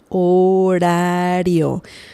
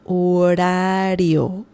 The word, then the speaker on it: horario: Este horario. This is a tricky word to pronounce because the R sound is quite, it's not the R sound. It's more like ra, ra-re-ri-ro-ru. Okay? So, este horario.